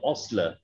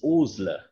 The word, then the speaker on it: Osler: the matter of fact he himself wrote that my name is not osler it's oozler that's something i must